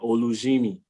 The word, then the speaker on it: Olujimi: How do you pronounce it? Yes, that's correct. Olujimi.